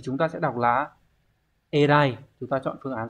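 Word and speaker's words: 偉い: Như vậy thì chúng ta sẽ đọc là Erai.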